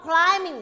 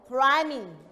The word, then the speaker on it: climbing: ร ร ม ต่ อ ไ ป rock climbing เ ร า จ ะ ไ ม่ อ